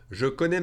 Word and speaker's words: je connais: Je connais ma leçon par cœur. I know my lesson by heart. If I pronounce that one faster, it'll sound different. I'm going to drop the E and combine the J